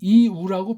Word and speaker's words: 유: 이건 또 따로 하나의 소리에 각각 이게 그냥 이우라고 발음하면 돼요. 어디 시간이 너무나 허비됩니까? 힘이 허비됩니까? 말도 안 되죠. 물론 빨랑할 때 어떤 애들이 들을 때는 이게 유같이 들릴 수도 있겠지만 이자로 출발을 해야 돼요.